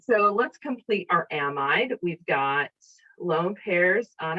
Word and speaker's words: amide: the difference between them some people call them a medes and a means which sound like the exact same word to me so i pronounce amide so there's a lot of different pronunciation the pronunciations of uh an amide i say it to differentiate from amine okay uh some people